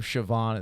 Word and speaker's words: Siobhan: out before how do you think the name sioban is spelled I know this s i o b